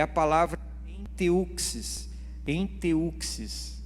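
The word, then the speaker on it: ἔντευξις: Enteuxis, é assim que se pronuncia.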